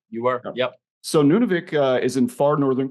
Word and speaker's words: Nunavik: Corp has several projects on a site called Nunavik am I pr pronouncing that correctly you are yep so Nunavik uh is in Far Northern Quebec I'll go